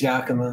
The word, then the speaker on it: Yakima: wrong before i think it's yakima yeah it's yakima it's yakima washington okay um well this is the second